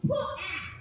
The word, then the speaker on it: Pat: It's put-act. It's like hat, but more formal.